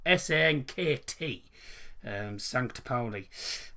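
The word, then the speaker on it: Sankt Pauli: say sn kt um sancta poli um it took me 10 hours to actually work out how you put some because i've always been pronouncing i've always been pronounced from st paulie uh for some daft reason um well there you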